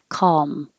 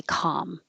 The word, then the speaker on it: calm: tongue touches the top calm calm or completely touch calm but not two syllables column or you can just skip the l and say com and that's what i put